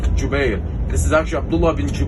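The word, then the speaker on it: Jubayr: name of abdullah bin jube this isn't written pronounced jubair this is actually abdullah ibn is the name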